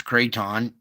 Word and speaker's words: Krathon: Bring you over here to Taiwan, where this Kraton, or Krathon, I think it's Kraton. I don't think you pronounce the H.